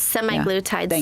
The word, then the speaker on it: semaglutide: bit about slim Therapeutics and semaglutide if I'm pronouncing that correctly yes semi glutide so we offer semi glutide and tepati and